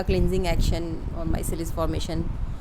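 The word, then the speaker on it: micelles: माइसेलीज या इसको कुछ लोग मेसेल्स भी बोलते हैं, कुछ लोग माइसेल्स बोलते हैं, तो उसका करेक्ट प्रोनाउंसिएशन क्या है ये आप जो आपको बेटर लगे आप यूज़ कर सकते हो. I prefer माइसेल्स.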